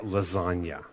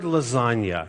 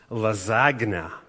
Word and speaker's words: lasagna: silence like lasagna well the word lasagna in English is not pronounced lazagna I don't I think German words almost never have silent letters but in English we have a lot of silent letters and lasagna has a silent G Little Wayne is a